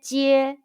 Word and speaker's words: jie: Ji ye jie. Repeat after me. Ji ye jie. Jie jie jie.